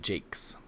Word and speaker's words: Jacques: jacques brian ryan brian jakes jakes it's spelled j-a-c-q-u-e-s but he's uh scottish so it's just jake's just cues jake yeah so i mean